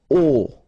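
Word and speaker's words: au: So a plus l will become o like that you write it a you pronounce it o okay jar o director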